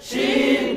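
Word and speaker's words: شين: লম্বা করে আওয়াজ দেন কিভাবে বলেছেন শিন বুঝি না শিন শিন শিন শাশিু শাশি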